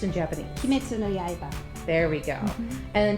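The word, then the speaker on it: 鬼滅の刃: So Terry, how is Demon Slayer pronounced in Japanese? Kimetsu no Yaiba.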